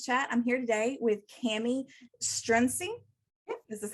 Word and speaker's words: Kami Strunsee: episode of makers chat i'm here today with cami strinzi this is how you pronounce it how you pronounce it awesome um